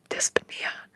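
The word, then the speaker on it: dyspnea: to say it wrong dispia dispia is how you say it or it's slow breathing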